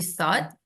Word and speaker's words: thought: bacanya thought thought thought ya ingat gh-nya silent ya gnya silent jadi thought gitu S thought th-nya di